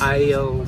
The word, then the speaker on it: aisle: Aisle seat. Se escreve de um jeito super bizarro, mas se fala aisle.